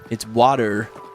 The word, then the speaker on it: water: You You pronounce T's as D's. It's water.